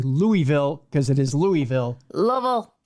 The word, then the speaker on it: Louisville: There are thousands of century-plus old buildings in, I'm going to say Louisville, because it is Louisville. Louisville. It's not Louisville. Louisville. It's only syllable.